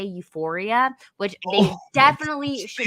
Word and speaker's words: Euphoria: or the funny thing is that they can't even pronounce it right. They meant to say Euphoria, which they Oh, definitely should she's not be watching.